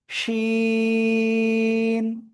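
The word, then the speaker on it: شين: জিহ্বার মধ্যখান তার বরাবর উপরে তালুর সাথে লাগিয়ে শা শা শব্দ করে আমরা এই অক্ষরটা উচ্চারণ করব। তিন আলিফটা নিয়া শিন, শিন।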